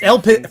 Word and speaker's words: LPZZ: It's Elpiz. First of all, it's Elpiz. All right. Elpiz. Elpiz. Elpiz Deathstroke. Elpiz. Okay. Yeah. Hi Elpiz, like Riz.